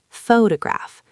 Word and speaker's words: photograph: The stress is on the first syllable, photograph. But if you take photos professionally, you are a photographer.